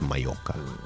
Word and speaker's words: Mallorca: So you often hear people say Mallorca. It's Mallorca. Mallorca.